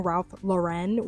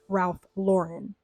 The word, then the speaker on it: Ralph Lauren: I realized that I kept saying Ralph Lauren when the whole time it's pronounced Ralph Lauren.